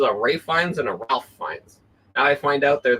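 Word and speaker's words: Ralph Fiennes: thought that there was a Rines not a Rafe fines I thought there was a RAF fines and a Ralph fines now I find out they're the same person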